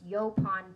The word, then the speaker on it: yaupon: So I looked up the pronunciation, that's why I put it on there, but it's Yopon tea.